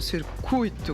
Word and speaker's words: circuito: O U e o I fazem parte da mesma sílaba. É, né? É, não há acento. Se houvesse acento, seria como a Fernanda falou. Circuito. Mas como não há o acento, as duas letras estão na mesma sílaba. Então é uito. Uito, circuito, gratuito. Exatamente.